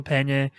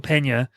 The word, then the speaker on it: Peña: is very good but like I said Michael pñ I think I said it wrong now paa Michael Peña is phenomenal in this movie um I think